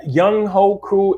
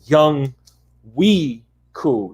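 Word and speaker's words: Younghoe Koo: right now man that young hoku is a weapon i'm i'm i'm sorry his name is young we cool like that's how you pronounce it yeah that was young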